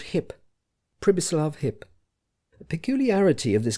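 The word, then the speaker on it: Přibislav: The while he with whom Hans Castov spoke was called hip privislav hip. The peculiarity of this given name was that you were to pronounce it as though it was spelled Cislava, and the singularity of the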